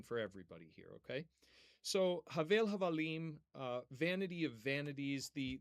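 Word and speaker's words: הבל: So Havel Havalim, vanity of vanities, the first word in the Hebrew text, okay, is, and I'm putting this in the chat here for you, we typically pronounce it as Hevel, okay?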